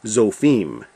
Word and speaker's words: Zophim: But in Hebrew, they always put the emphasis on the last syllable. So this would actually be zophim.